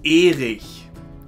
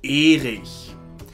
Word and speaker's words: Erich: That name is pronounced Erich. Erich.